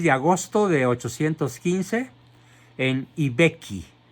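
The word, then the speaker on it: I Becchi: Nace pues el 16 de agosto de 815 en Ibecchi. Se escribe I, que significa el, Vecchio. Se escribe B-E-C-C-H-I, en el reino de Cerdeña.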